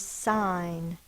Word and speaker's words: sign: a sound natat and the last word is sign I will sign my name s i n the first sound is s i n is the g n silent G one vow followed by one or more consonants The Vow is short but wait a minute that said the I sound we need to remember that one by heart also sign so we've got three